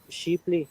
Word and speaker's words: Shipley: uh I like sheep sheeply is the correct pronunciation Shipley yeah he left